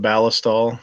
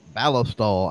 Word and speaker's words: Ballistol: Ballistol. I don't pronounce it that way. Yeah, I've heard people say, they pronounce it Ballistol. Like ballistic, right? Ballistol.